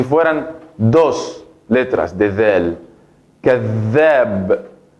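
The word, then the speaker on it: كذّاب: ¿Por qué digo así muy fuerte? كذاب. Por ejemplo, ¿por qué no la digo o no la pronuncio كذاب? كذاب. Si tiene fatha solamente, entonces la voy a pronunciar كذاب. كذاب. Pero no existe esa palabra en la lengua árabe. Para pronunciar esa palabra de manera correcta, entonces debo decir كذاب. كذاب. Dura un tiempo más la letra zel.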